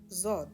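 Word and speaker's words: ضاد: Zod is, again, it's rhyming with sod, so this shape is quite similar, except that it has a dot on top. And the way it's pronounced is like Zaid, which is similar to Zay, and similar to Zod as well.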